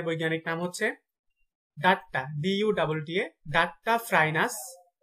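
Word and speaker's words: Duttaphrynus: কুনু ব্যাঙের বৈজ্ঞানিক নাম হচ্ছে ডাট্টা, DUTTA, ডাট্টা ফ্রাইনাস, ডাট্টা ফ্রাইনাস মেলানোস টিকটাস, ডাট্টা ফ্রাইনাস মেলানোস টিকটাস।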